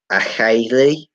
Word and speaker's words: Acheilidh: Apparently, it's pronounced Achele, Achele, or something like that.